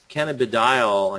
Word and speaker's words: cannabidiol: They're making cannabidiol, I think is how you pronounce it. It looks like, I want to pronounce it cannabidiol, but it's cannabidiol, which is CBD.